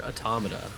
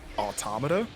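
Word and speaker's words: NieR:Automata: or is it automata or is it automata how do you say it you know after five years I still get self-conscious saying it out loud but I generally go with automata okay me too because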